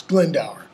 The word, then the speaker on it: Glendower: How does he address Owen Glendower? Or I'll use the pronunciation everybody uses, Glendower.